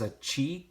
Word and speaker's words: achi: together, you're going to pronounce that not as a chi, but as a guttural chi, okay? Like a chet.